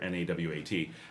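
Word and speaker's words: Nahuatl: Uh, so nawat here, n a w a t. Uh, whereas Mexico has nawat, which is n a hu a t-l, but they're pronounced almost identically.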